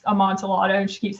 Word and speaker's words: amontillado: that that idea of a kid that can't pronounce amontillado and she keeps saying armadillo um that is a child that's kind of